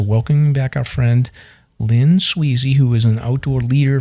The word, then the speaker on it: Swezey: say squeezy or sweezer you did it right it's my actual last name is Sweezy and uh my moniker is sweezer sweezer outdoors yeah oh